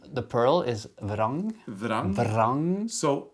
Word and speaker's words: vrang: Vrang. So rett, we spell that R-E-T-T. So you just say rett. And vrang, which is pearl, is vrang. V-R-A-N-G.